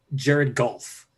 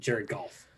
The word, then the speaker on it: Jared Goff: like can i interrupt you're pronouncing his name wrong and i i pronounced his name wrong too uh we have to go to the troy aikman book of pronunciation his name is uh jared golf so you have to say that like troy aikman please just just continue saying that right and jared goff so ryan gosling before